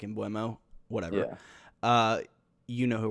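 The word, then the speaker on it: Mbeumo: bomo in bueno uh i think it's actually pronounced i've heard the announcer say in bomo i think that's actually how it's pronounced even though it looks like in buemo whatever uh you know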